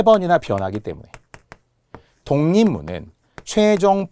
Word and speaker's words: 독립문: 세 번이나 변하기 때문에 독립문은 최종 발음 기호를 먼저 잘 생각해 보세요 독립문 되죠 자 세 번 변한다는 것은 기억이 이응으로 변했죠 리을이 니은으로 변했죠 읍도 미음으로 변했죠 동문